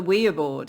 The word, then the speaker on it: Ouija: it is yes yes in French and German we and yah up here people go Ouija board and that's that's